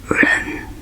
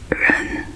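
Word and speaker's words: 人: character for person, and it's pronounced as ren, ren. Yeah, and the pinyin is R-E-N, so that's the pronunciation. So it's pronounced as ren, ren, just means person.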